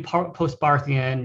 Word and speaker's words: Postbarthian: And when you do Postbarthian, you can say it with the H if you want to, so you don't sound as stupid, you know, if you don't know the H is silent.